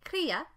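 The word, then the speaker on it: cría: to note in spanish you can say kriya with an accent on the eye crea to refer to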